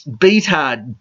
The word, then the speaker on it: Beathard: day CJ beat hard he pronounced it better or to me it's beat hard be EA T H a Rd I laugh my head